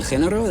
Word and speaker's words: género: Pues el género de... Straight away, there's that famous Castilian annotation from central Spain with a soft G on género, which is the genre, el género.